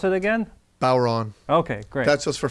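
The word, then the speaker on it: bodhrán: b o d h r a n and pronounce it again Bon okay great that's just for fun to confuse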